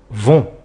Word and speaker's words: vont: On obtient les gens vont attention le t à la fin est muet et ne se prononce pas.